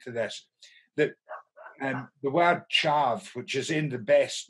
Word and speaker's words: tyave: that loves the dialect, we tend to say here, chav, as if it was K-Y, rather than T-Y, and pronounce the Y mayor.